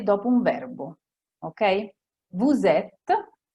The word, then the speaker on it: vous êtes: Vous êtes, voi siete, si dice vous êtes. Se dite vous êtes, è sbagliato. Ils ont, loro hanno, ok?